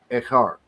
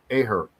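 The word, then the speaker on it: אחר: Look, echar. That vertical line's a e, the ch, and that little thing here is an r. Echar. Right? Why in modern Hebrew they have an aher?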